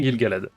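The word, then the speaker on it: Gil-galad: Gill Galad, comment ça se prononce ? Je ne sais pas. C'était bien Gilgalad.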